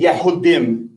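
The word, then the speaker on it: יהודים: Hebrew is Yahuda and Jews again an English term would be Yahoudim in Hebrew.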